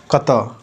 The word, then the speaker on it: कत: अहा कत ठीक है प्रोनंसिएशन पे ध्यान दीजिएगा कत यह जो ड की तरह लग रहा है यह ऐसे इसका अ का उच्चारण होता है तो अहा कत स